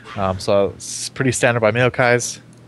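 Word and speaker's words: Maokai: so pretty standard by meai people people have been giving me crap about saying that mayai maai say it like kitty cat meow okay meow okay meow no anyways um I'm curious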